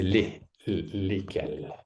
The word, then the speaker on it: lesquels: Je pense que c'est prononce même chose, mais c'est écrit différent. Hmm. Lequel? Oui, c'est lesquels.